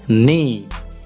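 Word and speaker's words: knee: মুখমন্ডল বা মুখ বোঝায় তারপর কে এন ই নি এই যে এখানে কে উজ্জ্ব থাকবে অর্থাৎ সাইলেন্ট থাকবে কে এন ই এটার উচ্চারণ হবে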